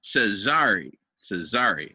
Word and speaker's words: Cesare: And Dharmendra, just so you know, it's Cesare. Accent on the second syllable.